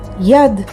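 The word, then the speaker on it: יד: yod vav and aled yod the next word yad yad is hand or arm and it's spelled with yod and daled yad here's another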